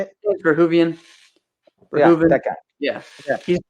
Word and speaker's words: Verhoeven: Verhoeven.